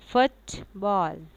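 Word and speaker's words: football: हम क्या करेंगे कि हमारा स्ट्रेस पहले वर्ड पे होगा और दूसरे वर्ड को हम ज़रा हल्के से प्रोनाउंस करेंगे, लाइक फुटबॉल, फुटबॉल।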